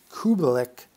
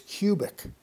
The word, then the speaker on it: Kubelik: The Polish violinist Kubelik had a name which was mispronounced by non-Polish speakers as Kubik.